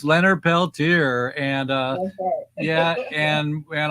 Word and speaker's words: Peltier: uh you heard it that's the that's a pronunciation uh all you white people out there it's it's Leonard Peltier and uh yeah and and I'm gonna take